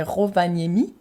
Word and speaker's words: Rovaniemi: Donc, parce qu'apparemment, il y a cette petite ville, alors je sens que je vais mal le prononcer, mais c'est Rovaniemi. Et apparemment, Non, c'est bien. c'est bien. C'est très bien prononcé, Super.